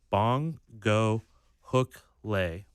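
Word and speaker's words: Bongokuhle: The pronunciation on MLS is Bong Go Hook Lay for the first name.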